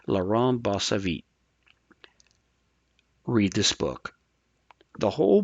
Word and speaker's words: Laurent Bossavit: of Software Engineering and I'm pretty sure I butcher his name every time, but I'm believe it's pronounced Laurent Bossavit.